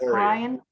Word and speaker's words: Corian: Corian. Is that how you say it? Correct. Corian.